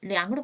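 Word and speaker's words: 两: 읽는 소리 또한 달라집니다. 량이라고 읽으셔야 해요.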